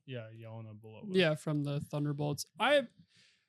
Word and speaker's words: Yelena Belova: Yelena Belova. Yeah, Yelena Belova.